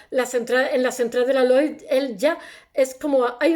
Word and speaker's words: Lloyd: un grupo económico inglés, se escribe Lloyd, se dice Lloyd, en Londres entre 1779 y 1986, que parece más una fábrica de automóviles que una compañía de seguros.